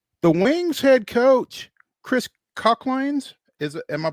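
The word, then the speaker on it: Koclanes: Because the Wings head coach Chris Cochlanes is am I pronouncing that right? Klanaines.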